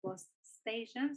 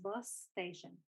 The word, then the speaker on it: bus station: Entonces, por ejemplo, no lo pronunciamos separado, no es bus station, sino es bus station.